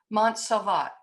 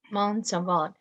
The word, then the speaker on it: Monsalvat: How is that pronounced? Monsalvat. Monsalvat.